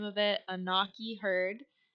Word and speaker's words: Onaqui: They're from the, I'm going to butcher the name of it, Onaqui herd. I think it's actually pronounced Onaqui, something like that. I know the word on is supposed to be in part of it.